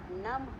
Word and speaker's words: नमः: इसका उच्चारण में हा की आवाज़ आती है। जैसे नम हा, अतः, पुनः, प्रातः, नमः, अतः, पुनः, प्रातः।